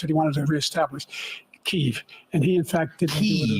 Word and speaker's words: Kyiv: Kyiv. And he, in fact, didn't do it at all. He didn't win. Pronounced Kiev.